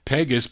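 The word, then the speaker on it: Pegues: I said it right, Pegas, but he recorded as Lou Courtney.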